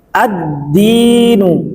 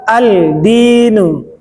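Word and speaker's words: الدين: Cara bacanya bagaimana? Ad-dinu, bukan al-dinu.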